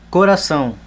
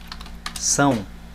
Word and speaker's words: coração: Coração. Coração.